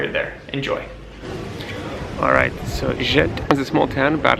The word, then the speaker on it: Ghent: I struggle a few times and say Ghent, but it is Ghent with a hard G.